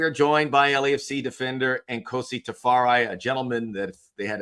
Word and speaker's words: Nkosi Tafari: And today we are joined by LFC defender and Kosi Tafari, a gentleman that they had a season ending award with most interesting dude in the league.